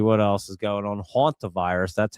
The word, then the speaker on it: Hantavirus: Hantavirus, that's how you say it.